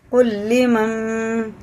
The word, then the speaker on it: قل لمن: میں پھر تشدید ہے۔ یہ نون ہجے میں تو پڑھیں گے، رواں میں اس کی جگہ میم کو لگا کے پڑھیں گے۔ لام ذیلی میم نون میم زبر مم، قل لمن، ٹھیک ہے نا، اسے